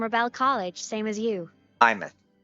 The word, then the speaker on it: Aemeath: Aemeath. It's pronounced Aemeath.